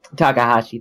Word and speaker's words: Takahashi: I can't say his name right but Takahashi Takahashi thank you if there's one thing I could